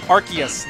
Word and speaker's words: Arceus: the viewers at home it's pronounced Arceus not Arceus okay the deity of Pokemon is not named after an ass Arceus believer is answering